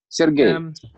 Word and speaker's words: Sergey: teacher and sir J is it sir J or Sergei it's not necessary you can name my you can pronounce my name how do you like it it's easier for you Sergei Sergei okay thank you I I